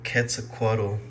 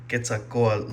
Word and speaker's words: Quetzalcoatl: Hello everyone, I'm back and I'm back to review this Gemini Jets 1/400 scale Boeing 787-9 Aeromexico Quetzalcoatl, that's how it's said in English, Quetzalcoatl livery that I recently purchased.